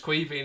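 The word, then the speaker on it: Caoimhín: It's Queeveen, it's the Irish for Kevin.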